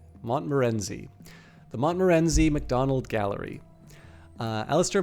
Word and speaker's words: Montmorency: So this is the let me see if I can figure out how to properly pronounce this. Montmerenzi. Montmorency.